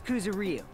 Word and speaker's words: Kuzuryu: My last name is Kuzuryu. My first name is pronounced.